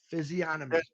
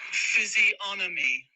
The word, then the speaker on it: physiognomy: Physiognomy. G is silent. Yeah. Hey, Robin. listen. Physiognomy. Physiognomy. Yeah. I thought the G is not pronounced because it's like sign or okay.